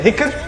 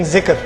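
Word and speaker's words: ذكر: He tries to say dhikr, he ends up saying zikr.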